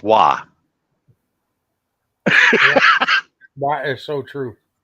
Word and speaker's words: Roy: Everybody would have think that Patrick Waugh's name was Roy. That's well, true. That's the way it's spelled, but it's pronounced Waugh.